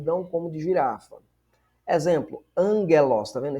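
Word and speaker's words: ἄγγελος: Exemplo, angelos, tá vendo? Esse gama aqui se lê como se fosse um N.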